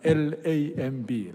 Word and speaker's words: lamb: 양이 뭐냐면 L-A-M-B, lamb. B is 묵음.